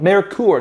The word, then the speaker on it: Merkur: out with this word merkur that was supposed to sound european and give the card